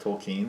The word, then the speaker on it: Tolkien: yeah did you know that his name's actually pronounced toll Keane really I did not know that's a whole